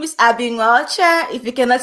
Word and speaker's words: Nwaocha: please tell people how used how do you pronounce it hi my name is abbing archer if you cannot say the last name